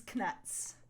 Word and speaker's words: Knuts: D's Knuts. Yes. And I like to pronounce the K because that's what Jim Dale does, and also because it differentiates knuts from actual nuts.